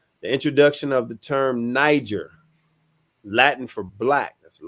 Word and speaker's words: Niger: The pronunciation of Niger is Niger, not Iger. It's Niger.